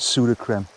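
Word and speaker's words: Sudocrem: And pseudo cream. I know it's pronounced pseudo cream, but I pronounce nothing right.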